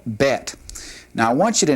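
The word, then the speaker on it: בית: But the difference that the letter makes with the dot in the middle and without the dot is it just has a slightly different sound. In this case, the letter with the dogation in it has a definite B sound. And then without the dogish, the the letter bet has more of a V sound.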